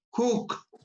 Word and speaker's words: Hooke: ver ricardo roberto que cook xavi se pronuncia como si fuera una o emmanuel mundo que dijo